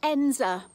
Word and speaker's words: Edensor: District and today I'm in the village of enza that's how it's pronounced in the Peak District National Park in England now enza is a picture postcard Little Village it's got